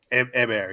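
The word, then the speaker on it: Héber: I'm gonna the accent is on the E, so and I don't think they pronounce the H, so I'm gonna go out and say Hèber.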